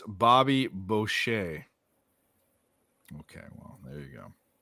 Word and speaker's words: Bobby Boucher: in my blood but um not bad it's pronounced Bobby Boucher okay well there you go they got um